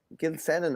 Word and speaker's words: Gilsenan: Just on this, Ronan Gilsenan, I'd say is how he pronounced the second name.